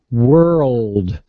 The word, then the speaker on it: world: But she's talking about world, not word. Notice how, like, I hit that R, yes.